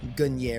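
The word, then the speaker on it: Gungnir: the marid of helmets gungir or gunier is it technically pronounced but gunier helmet for me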